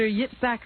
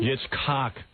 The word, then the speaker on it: Yitzhak: PLO leader Yasser Arafat and Israeli Prime Minister Yitzhak Rabin. Yitzhak. Cock. It's Z-H. How did that get to be pronounced cock?